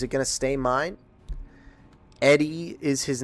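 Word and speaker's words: ED-E: I called him EDE, or I called him Ed D for the longest time, but I'm pretty sure it's pronounced Eddie, lol.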